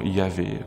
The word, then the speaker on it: Yahvé: nom du Dieu d'Israël, le fameux nom Yahvé, comme on le prononce assez souvent aujourd'hui.